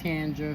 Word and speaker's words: Tangra: was her name Tandra it's pronounced with a d but spelled with a G it's t a n